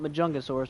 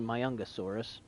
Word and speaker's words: Majungasaurus: my youngest source i always call it majungasaurus but it's actually my young asaurus the j is silent medicaid ceratops i need